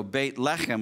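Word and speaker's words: בית לחם: left them means bread and so bait left him which is how you pronounce Bethlehem in Hebrew means House of bread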